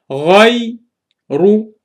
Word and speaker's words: غير: Look here, I read the letter غين with the letter ya as one part, and I read the letter ra by itself. So, غاي رو.